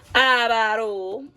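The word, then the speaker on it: Adobo: They say I said it wrong, but it's abaro.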